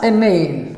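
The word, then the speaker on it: inane: was a stray moment a name the couple i n a n e okay so this is pronounced as a name around uh 15 10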